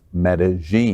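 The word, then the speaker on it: Medellín: lgbtq plus Colombian stars for Medellin and it's pronounced Medellin thank you yes I was in medelliness how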